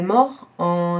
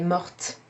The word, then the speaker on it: morte: Elle est mort becomes elle est morte. So here we have an example of when the E at the end of the past participle changes not only the written form but also the pronunciation.